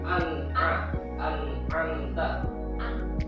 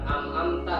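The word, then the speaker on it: أنعمت: apa idh Idhar jadi anamta adalah hukum bacaan izhar an tuh Ya jelas ya An Anta bukan amamta ya ini ada di surah Alfatihah yang seringkiali keliru dibacanya anamta jadi amamta G itu keliru terus ada lagi biar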